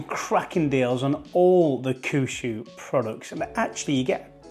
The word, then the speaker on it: Kuxui: there was the kushu I finally learned how to say the Brand's name it's kushu uh you saw me